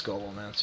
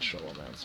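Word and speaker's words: Scholomance: It's Skolomance, yeah, but I call it Sholomance because I can't pronounce things.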